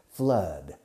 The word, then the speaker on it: flood: There were quite a few floods last month. Flood. F-L-O-O-D. Flood. Fijaos en la pronunciación. Don't confuse it with food, which is what you eat.